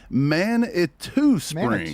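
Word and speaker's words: Manitou Springs: I seen in the chat, Steve Chris said it's pronounced Man-it-two-springs.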